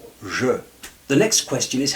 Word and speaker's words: je: When you say "Je", it's neither "Ja" nor "Jo". "Je".